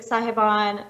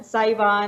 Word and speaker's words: Sahiban: wrong um so because everybody's pronouncing cybon yeah everyone says it differently right it's like sahiban saivan saiba um so that was